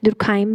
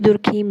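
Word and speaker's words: Durkheim: ठीक है गाइस, दुर्खाइम भी बोलते हैं, कुछ दुर्खीम भी बोलते हैं. यू can pronounce it एज per your visibility.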